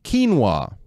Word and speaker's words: quinoa: It's quinoa, right?